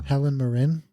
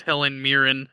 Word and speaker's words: Helen Mirren: Helen Marin. I don't think so. I'm pretty sure it's Helen Mirren.